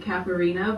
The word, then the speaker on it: Catharina: And we kind of just grew up pronouncing it Catharina, but I think the way it's supposed to be said is Catharina. It comes from my Dutch Oma.